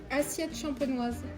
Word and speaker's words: Assiette Champenoise: But how do you pronounce the name of the hotel? Assiette Champenoise.